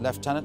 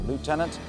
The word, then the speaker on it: lieutenant: Can't pronounce it left tenant on occasions. or Lieutenant Janet Quartet.